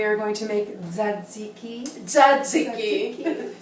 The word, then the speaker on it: tzatziki: Tzatziki. Say it like a Greek woman.